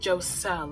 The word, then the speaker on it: Joselle: my senior quote was it's pronounced jose because everybody and a